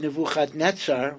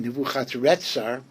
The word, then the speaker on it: Nebuchadnezzar: Now, in Pshuto Shel Mikra, why would Nebuchadnezzar, who's called again Nebuchadretzar, I don't have a pshat why, but those two pronunciations alternate in the book of Yirmiyahu.